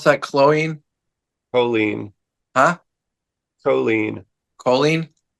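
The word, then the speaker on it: choline: does somehow bleeding realization Chen how do you pronounce that chlo Chen huh colen colen c h o l i n e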